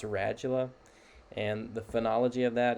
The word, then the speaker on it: radula: Um we'll look at what that looks like, but it's pronounced radula. And the phenology of that is similar to like educate, how it has that J sound. It's radula with that J sound.